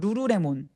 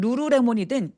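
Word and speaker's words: lululemon: 룰루레몬이라는 그 브랜드를 일본 사람이라면 어떻게 발음할까요? 루루레몬이라고 할 것 같아요. 루루레몬. 제가 일본어를 배웠었던 사람 입장으로 봤을 때 루루레몬이라고 할 것 같고 우리나라 사람들은 룰루레몬이라고 하겠죠.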